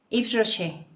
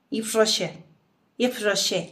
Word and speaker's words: Yves Rocher: Yves Rocher. De hecho, se pronuncia. Es francesa la marca.